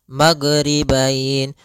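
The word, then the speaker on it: المغربين: Kemudian di sini huruf ghain, hati-hati dalam pelafalannya, jangan sampai memantul, jangan maghribain wa Rabbul maghribain sampai dia memantul. Nah, karena huruf ghain tidak ada sifat qalqalah, tidak ada sifat pantulan.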